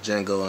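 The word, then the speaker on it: Django: his name uh uh Jango unchain the D is silent he played the I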